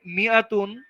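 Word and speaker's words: مِائَة: তো বলতেছে যে মিয়াতুন, মিয়াতুন শব্দের মধ্যে দা আলিফ ইজ নট প্রোনাউন্সড, এই আলিফটাকে ইউজই করা হয় না।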